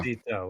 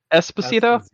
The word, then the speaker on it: Esposito: Despacito with an E, no D. Esposito.